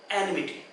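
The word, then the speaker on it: enmity: Exact pronunciation क्या होता है, एनिमिटी। मैं एन के बाद में pressure, I have not पुट the pressure, what is the pronunciation, एनिमिटी।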